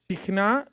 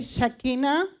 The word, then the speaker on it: Shekhinah: Okay, Shekinah. Shekinah. How do you say in English? Shekinah. Shekinah. Okay. What does Shekinah means? Quiere decir Shekinah. The word in Hebrew is Shekhinah. Shekhinah. En hebreo es Shekhinah. Shekhinah.